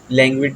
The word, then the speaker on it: languid: लैंग्विड walk या लैंग्विड walk जिस तरह आप पढ़ना चाहे पढ़ सकते हैं, इसकी प्रोनाउंसिएशन दोनों ही चलेंगी।